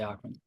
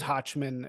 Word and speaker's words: Hochman: But Americans say Hawkman, so I'm an American, so I say Hawkman. Oh, so it is Hochman according to the No, Germans. it's like Hawk, like with like your back of your throat, but like Ah, talk like that.